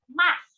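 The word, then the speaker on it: ます: as this once again yes all right next mass i know you've heard me pronounce this in ohio busan max and what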